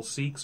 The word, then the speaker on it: Sikh: either so a couple seeks are walking down the hall in the mall this sounds like a joke two seeks walk into a bar two seeks it's spelled s i k h seek and they're walking past